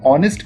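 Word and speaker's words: honest: एंड ऑनेस्ट man Darmiyaan ऑनेस्ट मैन की बात करें तो एच यहां पर साइलेंट हो जाता है और वह और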